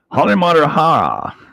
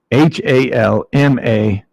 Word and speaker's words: Halmahera: It's Halmarahara, right? I just add 2 more consonants because it's easier to say. Geez. Get over it. Look. Halmahera. That's 1, 2, 3, 4 consonants. I say Halimarahara. I got 6 consonants, or 6 syllables, I should say.